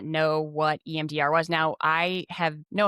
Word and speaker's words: EMDR: Which I always want to say EDM, you know, like No, you said it right. It's EMDR, like the dance music.